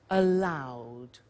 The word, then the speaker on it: allowed: allowed see that you're not allowed now that pronunciation is difficult allowed ok you're not allowed to smoke in here